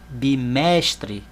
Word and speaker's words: bimestre: Olha lá, ó, bimestre. Vejam que eu falei o mesh mais alto. Então, mesh é a sílaba tônica.